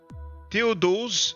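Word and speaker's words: Théodose: Theodose, as we pronounce it in French, impose the closing down of pagan temples and forbid the cults dealing with the Roman Empire.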